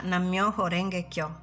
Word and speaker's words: Nam myoho renge kyo: si pronuncia Nam myoho renge kyo Nichiren hasserie che questa è la legge della